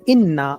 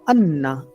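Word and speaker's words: إِنَّ: तो जब भी if there is word inna or anna, okay, sometimes it appears with zer, inna, and sometimes it appears with zabar, anna, but meaning remains same.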